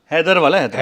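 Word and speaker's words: Haidarabad: नाला या नॉट the this spelling of हैदराबाद इट इज एच ए आई डी ए आर ए बी ए डीली called हैदर हैदर हैदर वाला हैदराबाद हैदर वाला हैदराबाद बा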